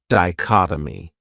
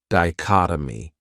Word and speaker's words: dichotomy: another great noun is dichotomy this word has four syllables and the stress is on that second syllable dichotomy that third syllable has that schah that uh sound dichotomy what it means is